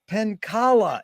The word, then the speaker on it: Penkala: pleasure to be here today with D penkala is that the correct way to mispronunciate it you got it Jerry yes